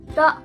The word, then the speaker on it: 的: Remember, 的 is a light sound.